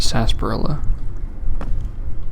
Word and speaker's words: sarsaparilla: sunsets sarsaparilla you know it says source asparagus but it's just pronounced sarsaparilla no idea why let's see hsn jtu